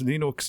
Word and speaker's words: Linux: is lenus tot and I pronounced Lenox Lenox I heard that so